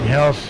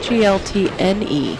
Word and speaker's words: Heltne: You know, I think we're saying it wrong. On the sheet, it's wrong, but I'm looking at the back of her shirt. It's Heltne.